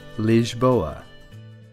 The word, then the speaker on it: Lisboa: The locals pronounce it Lisboa.